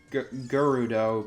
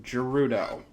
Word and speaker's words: Gerudo: And yes, I know some people pronounce it Gerudo, but in English, G followed by an E means that the G is soft, like in gem. So, Gerudo. That's how I pronounce it.